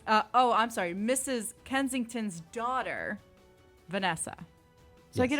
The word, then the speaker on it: Kensington: Austin Powers and Miss was it kingsington Kensington Kensington okay I put an ey this is Kensington I put an i